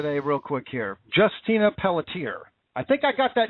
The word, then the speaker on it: Pelletier: I don't mean any offense by it, but I think it's now Pelletier is how you actually pronounce it.